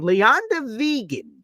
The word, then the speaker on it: Leander Wiegand: Earlier this offseason, they signed German big man Leander Wiegand, is how it's pronounced for those who don't know. I listened to multiple German broadcasts to make sure I got it.